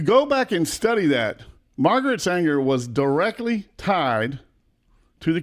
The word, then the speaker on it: Margaret Sanger: And I say her name wrong all the time. It's Margaret Sanger. Mm-hmm. Oh, I got it right that time. All right, Margaret Sanger.